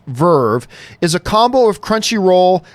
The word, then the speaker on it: VRV: VRV, pronounced Verve, is a combo of Crunchyroll and High Dive.